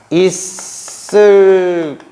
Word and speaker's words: 있을걸: 근데 이때 발음이 어떻게 되냐면요. 있을걸 이렇게 되고요. 이 갈게 같은 경우도 갈게 이렇게 발음이 된단 말이에요.